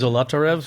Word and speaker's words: Zolotarev: Zolotarev?